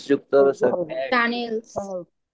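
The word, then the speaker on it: Tunnel: টানেল। Tutorial. টানেলের এখন German উচ্চারণের ক্ষেত্রে আমরা টুনেল বলি, ঠিক আছে?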